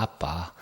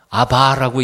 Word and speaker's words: Abba: 그걸 직역하면 아빠 합니다 아빠 아 ABBA 뭐라고 읽어요 아바라고 읽으면 안 되고 아빠 아빠 그러니까 예수님도 사도